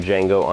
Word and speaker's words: Django: awesome flick number seven the d is silent but i'm not when i tell you how awesome django unchained is again spaghetti